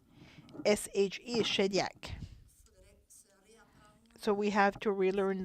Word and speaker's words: Shediac: Like that we keep Shediac, S-H-E-D-I-A-C, or Shediac, if we want to pronounce it in English.